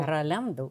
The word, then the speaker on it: Rolando: Est-ce qu'on dit Rolando ou Rolando? Rolando.